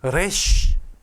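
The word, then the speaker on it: ריש: 그 다음 점은 래쉬. 영어 음가로 R 같은데 이 R처럼 이렇게 굴리시면 래쉬 이렇게 하시면 안 되고요. 그냥 평평하게 래쉬 하시면 됩니다.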